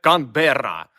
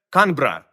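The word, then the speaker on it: Canberra: ви прочитаєте це ну ми вчили це кандера але все простіше це канбра і тут здається мабуть зна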